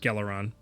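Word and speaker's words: Gelaron: Galeron. Um, Galeron is what I It's So, it's G E L A R O N. Dang it, that was so close. Geleron.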